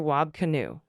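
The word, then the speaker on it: Wab Kinew: Wab Canoe. Canoe rhymes with canoe.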